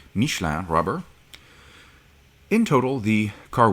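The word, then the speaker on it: Michelin: and BBS wheels wearing I'll say it properly since it's a French car mishan rubber in total the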